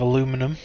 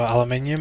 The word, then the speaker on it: aluminium: And then we can get a little bit of aluminum, or aluminium, however you want to pronounce it, going.